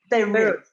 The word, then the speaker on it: Berwick: Berwick? Berwick.